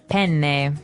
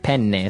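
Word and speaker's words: penne: it would be pen pen. So you you you double pronounce the consonant.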